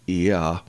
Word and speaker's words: Yah: It shows up in the Psalms a lot, but this is how the name is pronounced, Yah.